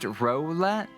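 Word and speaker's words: Rowlet: IR means a very different thing it's pronounced Rolette like a Rox row row roll your bow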